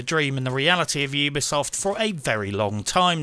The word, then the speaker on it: Ubisoft: It has been pointed out to me that I have been mispronouncing Ubisoft for years. Apparently, the correct pronunciation is Ubisoft.